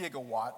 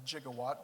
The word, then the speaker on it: gigawatt: we all are okay so Randy actually did pronounce it I think correctly I say gifs as well not gifs so it's a gigawatt but Doc Brown will give Doc Brown the benefit of the doubt when he pronounced it a jigawatt back in the 1985